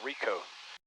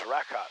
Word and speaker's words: Ryecot: Called it Rico. Says it's Ryecot, so I guess it's Ryecot.